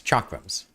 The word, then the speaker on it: chakram: that chakra just uses chakrams. And her name is basically just chakram without an M. And, pronounced with an SH, which is how a lot of people, I think, mispronounce chakram. I shouldn't have parried there.